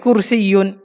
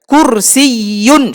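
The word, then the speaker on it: كرسي: এরপর আসে হলো চেয়ার, চেয়ারকে আরবিতে বলে কুরসিয়ুন, আয়াতুল কুরসি চেয়ার, কুরসিয়ুন একটি চেয়ার, কুরসিয়ুন শেষে ইয়ার উপর তাসদিদ আছে, এই জন্য দুটো ইয়া উচ্চারণ করতে হবে একটু ধাক্কা দিয়ে, কুরসিয়ুন, কুরসিয়ুন, হাযা কুরসিয়ুন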